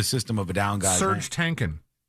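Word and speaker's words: Serj Tankian: Serge Tankin. Is that how you say it? Yes.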